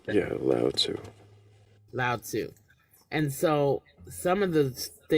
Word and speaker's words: Lao Tzu: I don't know how to pronounce that. Yeah, Lao Tzu.